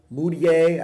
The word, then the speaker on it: Mudiay: rustling number two is an emmanuel mudiay i believe is how you say his name i'm calling a mood I this whole time mudiay is the guy